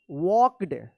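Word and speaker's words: walked: जी एस T night वॉक्ड डब्ल्यू ए एल के ई डी वॉक्ड यहां पे L silent है वॉक्ड towards toward होगा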